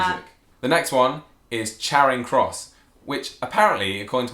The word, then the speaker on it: Charing Cross: It's not Charing Cross. Oh, I didn't say Charing. Yeah, Cross. if it was Charing Cross, it'd just... have 2 R's, like something is charred on the fire.